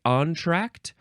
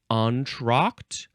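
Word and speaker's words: entr'acte: Apostrophe a C te you can say entract onra entract you can emphasize either syllable uh now this is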